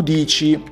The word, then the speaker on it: dici: Io dico, tu dici, lui, lei dice, noi diciamo, voi dicete, essi dicono. Voi dite. Beware the C, it is pronounced CH, in the middle of the conjugation pattern, because for the first